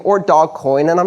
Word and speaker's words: Dogecoin: breed of dog on the front and is pronounced doggy coin or dogecoin or dog coin and i'm not quite sure but it doesn't